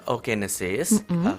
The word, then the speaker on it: oogenesis: Iya perbedaan spermatogenesis dan oogenesis jadi tulisannya O ya kita bacanya oh oh teman satu aja oke